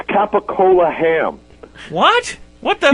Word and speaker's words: capicola: It's capicola ham. What? What the? Yeah, but they pronounce it gabagool.